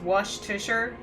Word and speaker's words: Worcestershire: Mr Ashdown wait who's Mr Ashdown Worcestershire is pronounced wash to sure I pronounce it Worcestershire I go out of my way to pronounce